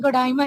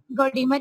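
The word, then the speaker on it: Gordimer: कि इसको प्रोनाउंस जो है डिफरेंट कंट्रीज में डिफरेंट जो है वो किया गया, कहीं जो है वो डाइमर है, नैडीन गोडाइमर है, कहीं गोडीमर है। नैडीन गोडीमर जो है वो इसकी ब्रिटिश प्रोनाउंसिएशन है, तो आप इसको नैडीन गोडीमर ही पढ़ेंगे।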